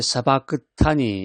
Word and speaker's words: 사박다니: 라마 이제 아라데 어찌하여 이런 뜻이 있고 사박다니 이게 이제 사바타니 이렇게 발음들도 되는데 사박단이라는 것은 이제 아람으로 나를 버리셨나이까 이런 의미가 있습니다.